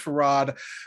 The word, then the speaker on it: Fard: predicate it by saying my name is spelled f-a-r-d even though it is pronounced for rod because screw english now because there my name is actually is actually an arabic word f-a-r-d with a dot under it for some reason and uh that is pr and that is an arabic word meaning uh obligatory so uh so so it is spelled far d but it's supposed to be pronounced that's how it's pronounced it was pronounced for